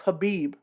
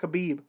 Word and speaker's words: Khabib: for me to correct myself i know it's pronounced habib not khabib but i've been saying it for so long